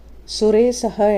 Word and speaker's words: சுரேசக: திருமாள் ஆட்சி செய்வார் குறிப்பு சுரேசக என்ற திருநாமத்தில் உள்ள ச என்னும் எழுத்து ஷ என்ற வடமொழி எழுத்தின் உச்சரிப்பில் வந்துள்ளது அது ச ஷ இரண்டுக்கும் இடைப்பட்ட ஒளி கசடு இசகு உள்ளிட்ட வார்த்தைகளில் சாவை உச்சரிப்பது போல சுரேசகவில் உள்ள சாவை உச்சரிக்க வேண்டும்